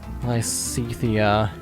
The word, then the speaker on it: Lysithea: is not how I thought it would be pronounced. Lysithea.